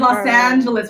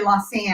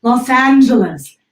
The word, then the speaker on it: Los Angeles: Angeles by the way I said Los Angeles with the big open app because otherwise I'd say lost seeing that both Los Angeles right Los Angeles very fancy so anyway